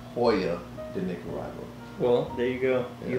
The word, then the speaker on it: Joya de Nicaragua: the cuatro cinco by joya day nicaragua so you butchered that name it's hoya the nic arrival well there you go